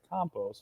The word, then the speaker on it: Campos: I was going to say you would have had the pronunciation right if you said Campos.